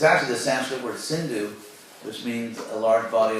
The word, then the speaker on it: Sindhu: So Hindu first referred to a great river, which is the Sindhu River, and then it referred to the people on the other side of the river.